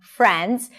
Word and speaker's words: Friends: So again: watching Friends, stress is on 'Friends'. Notice the R sound here, round your lips, and make sure that the transition between the F and the R is smooth: Friends, Friends, by watching Friends.